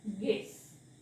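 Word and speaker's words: guess: यु ला वाचायचं नाही सो या शब्दाचा उच्चार होतो गेस गेस इथे यु चा काहीही उच्चार येत नाही तसंच इथे बघा ट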